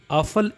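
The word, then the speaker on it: Apfel: करके बता रहा हूं तो ए जो है वह अलिफ मदा आ की आवाज प्रोनाउंस करता है तो ए अगर इस तरह आएगा तो अली मदा आ की आवाज प्रोनाउंस करेगा जैसे एक मसाल मैंने लिखे ए पी एफ ई एल आप फल आफल एक सेब को कहते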